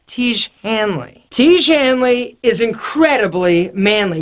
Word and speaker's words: Tiege Hanley: if so incredibly manly what rhymes with Manley te Hanley te Hanley is incredibly